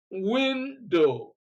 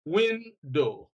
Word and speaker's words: window: Nouns like window, stress is on the first syllable, window, Monday, hostel, and so on.